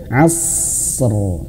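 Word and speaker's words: عصر: Dan rnya dihadirkan tebal huruf rnya ya. Asr wal asr. Nah, gitu. Wal asr. Kesalahan yang pertama yang sering sekali adalah ketika di sini membacanya itu langsung gini. Wal asr. Wal asr. Udah mah huruf shadnya tidak ada angin yang ditahan ya. Karena huruf sad ini hamesnya itu ya hamas sifatnya itu ditahan dulu ada tempo wal asr.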